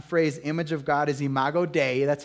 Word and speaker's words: imago Dei: for the latin phrase image of god is imago dei that's how you say it and it means